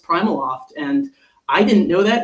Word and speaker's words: PrimaLoft: It's pronounced Primaloft and I didn't know that until I interviewed there.